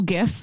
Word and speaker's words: GIF: I am at Virtual GIF. That's a hard G and two Fs pretty much everywhere on social media.